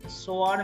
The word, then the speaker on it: soir: soir, yes, soir means evening. S-O-I-R, soir. Each and every alphabet is pronounced here.